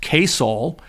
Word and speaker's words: KSOL: When the station was sold in 1964, it changed the call letters to KSOL, pronounced Koul, to better indicate its mission.